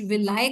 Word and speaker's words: villi: कुछ लोग इसे विल्ली प्रोनाउंस करते हैं, कुछ विलाय करते हैं।